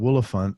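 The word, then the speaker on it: Woolaphant: You got a song on there called Willifant, which did I pronounce it right?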